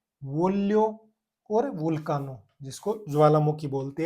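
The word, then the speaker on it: voglio: उसके बाद में वी O plus G एल आई ओ, वी ओ का वो, और जी एल आई ओ इसको कैसे बोलेंगे, लियो, वो लियो।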